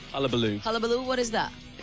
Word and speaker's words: Hullabaloo: So what's the right pronunciation? Hullabaloo. Hullabaloo.